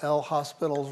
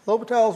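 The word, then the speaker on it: L'Hôpital: You use that famous rule that we all mispronounce when we see it written, right? We use good old L hospital's rule. Okay, it's Latal Latal's rule.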